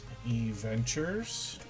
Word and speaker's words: E-Ventures: That is the way we pronounce that name. E-Ventures.